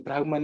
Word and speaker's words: brahman: there are many reasons i would say the brahman is the right pronunciation but you know we